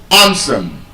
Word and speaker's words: handsome: ugly pretty jealous handsome That word I told you last when we did the pronunciation class that the D is silent. It's not handsome. Handsome.